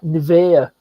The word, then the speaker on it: Nivea: I think and you don't pronounce it Nivea, something like Nivea.